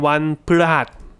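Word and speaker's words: วันพฤหัสบดี: Most people don't say the full 7-syllable version because it's 7 syllables. Most of us just say ว ั น พ ฤ ห ั ส ว ั น พ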